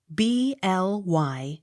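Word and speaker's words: Blyth: u n t blunt b l y t h bly t h not sounded b o u r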